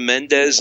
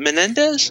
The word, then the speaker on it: Mendez: And Rosa Mendez? Is it Menendez? Yeah, it's Mendez.